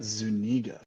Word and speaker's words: Zuniga: more time you guys Zuniga dang or if you want to be daring you can pronounce it the Spanish the Spanish way which is you got